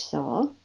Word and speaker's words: Sowle: I also think about her ancestor, George Sowell, who was a direct descendant from the Mayflower. And that name is spelled Sowle, and you see a variation with a U, Soule.